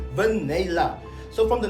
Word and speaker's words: Vainilla: It's something like vanilla, but it's pronounced as Vainilla.